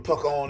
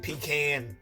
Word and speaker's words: pecan: If y'all don't know what a pecan is, people like to pronounce it pecan, but I'm from the South, so it's a pecan.